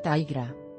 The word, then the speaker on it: Tigra: punto mx tigra afortunadamente el nombre de esta sensual heroína felina es muy fácil de pronunciar la forma correcta sería taira imagen marvel 10 11